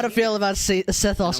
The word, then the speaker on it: Sethos: forgot to introduce myself and how do you pronounce it my name is sethos sethos I'll be here if you need me